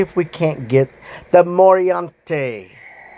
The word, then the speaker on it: Moriante: That is how you pronounce this. Even Google search says this is how you pronounce it. And if you say it on Google search, the dragon pops up. So morante or morante. Uh give a little roll to it.